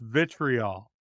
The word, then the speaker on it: vitriol: It's pronounced vitriol.